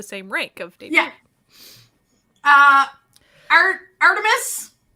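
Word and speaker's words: ARTMS: rank of De uh art emis I did learn that's how you're supposed to pronounce the name uh they have the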